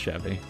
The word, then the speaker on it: Chevy: a 9 1970 Chevy an American automobile brand pronounced Chevy you